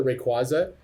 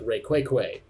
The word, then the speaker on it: Rayquaza: this guy would pronouncing he would call it pronounce it like rayquake oh my God that